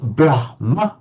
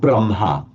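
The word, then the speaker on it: ब्रह्म: So you write it brahm but you pronounce it the other way around braha.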